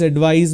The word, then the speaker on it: advise: C you need to use s and it's pronounced that advice so please advise me I want to advise you so please